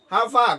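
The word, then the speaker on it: far: How long কতক্ষণ, how long কতক্ষণ, হাউ ফা কত দূর। সঠিক উচ্চারণ এখানে আর এর উচ্চারণ হবে আ। হাউ ফা আর সাইলেন্ট থাকবে।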